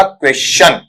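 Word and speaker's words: question: Reason क्या है, इसमें हम जो शय के साथ में जोड़ देते हैं वो नहीं देना है। ठीक है, और इसे सिंपल से के रूप में पढ़ना है और वो बन जाएगा क्वेश्चन।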